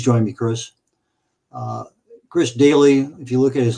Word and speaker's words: Doelle: at it please join me Chris uh Chris Daly if you look at his last name kind of an unusual spelling but it's pronounced oun daily well there we go hey there I am